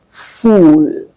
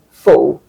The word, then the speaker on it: full: A lot of people say fool. When you say that, you're calling yourself a fool. What should you say instead? They should say full. I am full. Full. Full. It has a short sound, a short uh sound. While the f o l has a long oo sound.